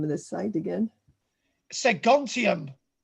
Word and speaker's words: Segontium: Segontium. How do you spell that?